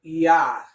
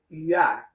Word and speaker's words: huard: And you can also find the same sound in the French word huard.